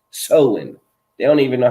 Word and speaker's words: Samhain: It's spelled like if you were to read it phonetically, Samhain, but it's actually pronounced Soin.